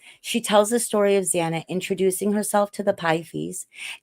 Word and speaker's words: Xana: She tells the story of Zana introducing herself to the Pythes, explaining that her name is pronounced Xanax without the X.